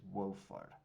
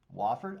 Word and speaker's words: Wofford: their opponent which is wolfard wolver wofford i don't know i think they call it wofford i think i say it wrong i think it's wofford see if i can't